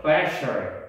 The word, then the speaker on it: pressure: Pressure, 셜 발음입니다.